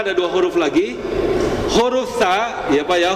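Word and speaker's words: ث: Huruf tsa ya, Pak, ya. Huruf tsa itu makhrajnya adalah ujung lidah dengan ujung gigi seri atas.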